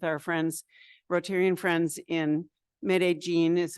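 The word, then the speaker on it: Medellín: zoom meeting with our friends rotarian friends in mid aene is how you say it I've just learned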